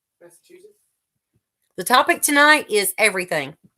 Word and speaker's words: Massachusetts: Massachusetts, isn't it? C-H-E, like chew. Massachusetts.